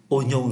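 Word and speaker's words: oignon: là operatin là qua nhưng ở đây phát âm là ô đây là trường hợp đặc biệt Ôi nhau là củ hành tây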